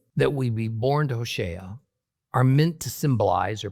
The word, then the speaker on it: Hosea: Now, in the book of Hosea, actually pronounced Hosea, chapter 1, we get a curious story about Hosea being ordered to marry a harlot, a prostitute named Gomer.